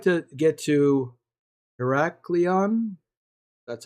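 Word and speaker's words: Heraklion: visited yet I would like to get to heracleon that's how you pronounce that but here's the the other island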